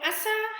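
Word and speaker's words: أسى: fatha on the scene whereas asiya as shown in the last slide was pronounced with a kasra on the scene so asa has meaning of to nurse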